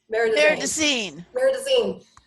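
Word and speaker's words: Marais des Cygnes: Meridazine.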